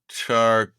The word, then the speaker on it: Qatar: How to pronounce Q A T A R? Yes. This is, uh let's see. Uh Qatar Qatar Brits occasionally go Qatar.